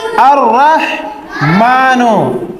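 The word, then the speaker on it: الرحمن: क्या हो गया अरमान अर रहमान हिजज कैसे करेंगे अलिफ रा जबर अर अ अर में ये जो लाम है आधा लाम ये साइलेंट है ठीक है साकिन है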